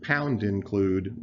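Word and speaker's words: #include: and the word include this is pronounced pound include by C++ programmers and then an angle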